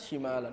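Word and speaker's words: شِمال: Yaminan syimalan itu juga zarf. Jadi di dalam bahasa Arab ada syimal, ada syamal. Hati-hati. Syimal itu artinya kiri. Syamal hah utara.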